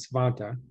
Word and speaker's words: Svante: of other people with the name Svante, or they pronounce it Svante.